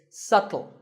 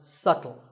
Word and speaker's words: subtle: you say it it's subtle the B is silent subtle means something that is difficult to notice or something that isn't obvious and once again the word is pronounced subtle another popular word with